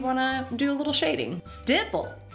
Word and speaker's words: stipple: Stipple rhymes with nipple, like the glacier in British Columbia.